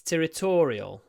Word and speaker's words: territorial: still hasn't been resolved territorial because it's about territory so territoria can be territory stress on the first syllable o territory it's territorial territorial T tier abona is